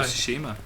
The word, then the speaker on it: Tsushima: Yeah, let's go to so- Tsushima.